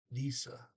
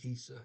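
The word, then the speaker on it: disse: Detta is the neuter form, and disa, D-I-S-S-E, disa is for all plurals, which pretty much matches German, by the way, for disa. Um, Pretty close, same pronunciation.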